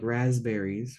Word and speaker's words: raspberries: put a z there we say it like raspberries right we don't say the P does anybody say the P raspberries I always try to